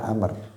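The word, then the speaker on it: عمرو: Kalau tulisannya bedanya ada wawunya dan enggak ada. Kalau enggak ada Umar bacanya. Kalau ada Amr. Amrun.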